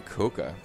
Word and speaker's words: Koka: Actually, it is claimed that the correct pronunciation may have been Koka. Coca-Cola.